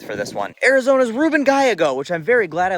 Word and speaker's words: Gallego: come up with for this one Arizona's Ruben Gago which I'm very glad I looked at the pronunciation of because it's spelled galago and I